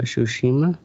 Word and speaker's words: Tsushima: All right, moving on next to Teddy, Ghost of Tsushima. How do you pronounce it?